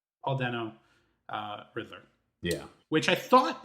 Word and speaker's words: Dano: Dano? Paul Dano, Riddler.